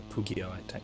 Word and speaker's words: pugio: Edward says, I hate the look of the Pugio dagger so much, or Pugio, technically, if we're using classic pronunciation.